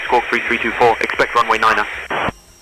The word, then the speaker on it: niner: Expect runway niner. Squawk tree 324 and runway niner. Niner. You have to like really say it like that.